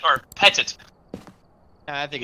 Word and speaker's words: Petit: What, is Jennifer- it petite or petit? I think it's Because petite. Petite Petit. is spelled with one T.